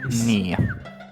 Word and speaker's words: ny: Ny, N-Y is Nia.